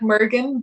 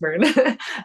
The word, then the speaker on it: Muirgen: So it looks like Mergen, but it's pronounced Mern.